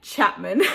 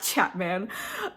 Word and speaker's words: Chapman: This novel is a classic fake dating rom-com where our leads, Solange Pereira and Dean Chapman, why did I say his name like that? Dean Chapman, not Chapman, must pretend to be in